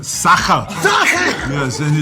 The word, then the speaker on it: Sacher: Not Sascha, Sacher.